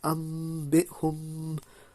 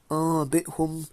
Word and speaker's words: أنبئهم: So as you can see, guys, it's pronounced أنبئهم أنبأهم.